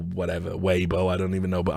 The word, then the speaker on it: Weibo: ] weibo post right where I know it's pronounced why Bor weibo I don't even know but I'm calling it